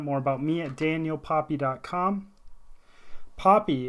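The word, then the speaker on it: Poppie: Poppy is spelled P-O-P-P-I-E. Sounds like the flower.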